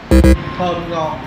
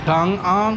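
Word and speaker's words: thơm ngon: Dice tom ngon. Tom ngon. Tang ang. No, tom ngon.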